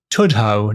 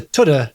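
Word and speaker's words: Tudhoe: come with me to Toho near Spenny Moore to do what or to pronounce that correctly come with me to tuta near Spenny Mo Spenny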